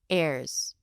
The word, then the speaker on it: errors: Errors, airs. Airs. Just say it like that.